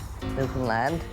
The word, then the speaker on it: Newfoundland: meet these cuddly playmates are pronounced the same way as their homeland newton land rhymes would understand come to shore and